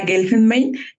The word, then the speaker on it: Guelfenbein: Yo me siento muy contenta porque esta mañana tengo el honor de platicar con Carla Gelinmain. Carla, ¿cómo estás? Hola, Karina. Qué maravilla que hayas pronunciado mi apellido perfecto.